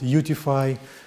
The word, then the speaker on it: UTIFY: It started as a UTF, and then we added irrigation, so it can be pronounced as utify, something like beautify, unify.